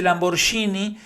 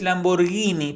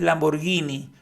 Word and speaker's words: Lamborghini: siquiera lo pronuncia bien porque él dice Lamborghini pero es Lamborghini porque en italiano después de la G cuando viene una H es para que esa g justamente suene suave es Lamborghini no Lamborghini y todo este discurso